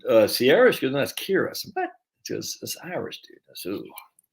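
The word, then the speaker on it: Ciara: shiban um and do you know c-i-a-r-a isn't sierra coley's got a friend akira and i said but i saw her name said uh sierra's because that's kira what irish dude that's who so i gotta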